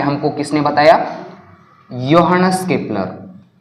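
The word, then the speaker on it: Johannes: में हमको किसने बताया यो हनस केपलर योन केपलर ओके ये जो इसको स्पेलिंग इसके जे से शुरू हो रही है मगर उसको क्या पढ़ना है यो हनस केपलर तो इस योहानेस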